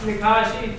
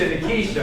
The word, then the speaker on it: Nikisha: Yeah, plus Nikashi, seal the deal. I say it again. I'm going to keep blowing her in. Nikisha. It rhymes with Alicia. Runs with what? Alicia. Alicia, Nikisha, okay.